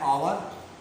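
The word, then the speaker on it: hour: एन आवर, an honest, क्योंकि इनका जो उच्चारण है गाइस वो है आवर और ऑनेस्ट, ये है गाइस।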